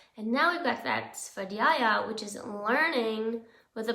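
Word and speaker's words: स्वाध्याय: I've heard it pronounced different ways, but I usually say Svadhyaya. And Svadhyaya it's the study of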